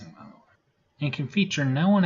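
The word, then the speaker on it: Montero: Atlanta born artist lil nas eggs from that's pronounced MO and can feature no one at all or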